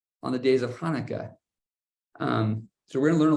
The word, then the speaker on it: Hanukkah: it starts with a a sound that we don't really have in English it goes high like almost like there's popcorn stuck in the back of your mouth Hanukkah so you might see it spelled with a CH you might see it spelled with an H it's because it's trying to it's best to make that Hebrew sound but it's not quite the sound so when you say